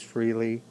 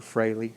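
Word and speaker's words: Frehley: first concert was ynt ace freely or frayley however you want to pronounce it and faster pussycat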